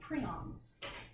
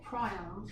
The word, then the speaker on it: prion: The next type of non-cellular entity I want to talk about are called prions, or prions, depending on who's pronouncing it.